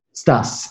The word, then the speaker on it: Stas: Stas, S-T-A-S.